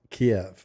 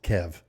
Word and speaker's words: Kyiv: Oh, by the way, it's pronounced Kiev. It's not pronounced Kev.